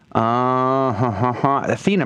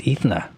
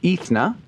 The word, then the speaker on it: Ethna: I'm just curious yes I think it's ethna is it Ethan well I would like to say it correctly if if that's the way it goes ethna good morning to you uh t-storm 40.